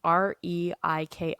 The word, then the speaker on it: Reiki: Okay, I don't No, know how to pronounce that. I've heard it as Reiki. I don't know if it's right either. It's Reiki for those of you that are curious.